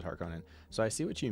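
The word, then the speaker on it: Harkonnen: continue come on me the double n thing is the thing with the movie pronunciation I'm guessing yeah harken versus hark Conan versus harkonin so I see what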